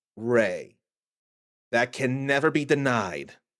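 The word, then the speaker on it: Rei: No, the name spellings may be different between the original dub and then the redub, but either way, it's still pronounced Ray.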